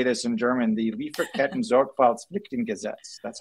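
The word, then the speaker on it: Lieferkettensorgfaltspflichtengesetz: And I'm going to say this in German, the Lieferketten Sorgfaltspflichtengesetz. That's how you say it. Wow. Can you do that again? Lieferketten Sorgfaltspflichtengesetz.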